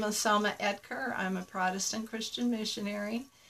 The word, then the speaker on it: Oetker: O-E-T-K-E-R is our last name. It's a German name and the O is silent. So it's pronounced Oetker.